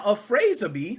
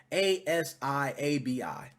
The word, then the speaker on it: Afrasiabi: Now, Afrazabi, or however you pronounce it, it's Afrasiabi.